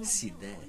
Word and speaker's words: Sidès: How you pronounce the last name? Sidès. Sidès. Sidès. Sidès. Not sides.